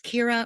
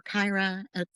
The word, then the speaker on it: Kyra: Uh Jodie Turner Smith plays Kira or Kyra, pronounced both ways, and Justin Hman plays Yang.